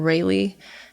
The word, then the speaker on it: Rhaelee: you can just type in my first name rayleigh it's spelt weird so it's r h a e